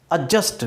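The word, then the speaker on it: adjust: हम गलती से क्या करते हैं, एडजस्ट कर लो यार, थोड़ा सा एडजस्ट कर लो, एडजस्ट नहीं एडजस्ट। प्रोनाउंसिएशन क्या होगा, क्योंकि डी और जे का कॉम्बिनेशन जे होता है।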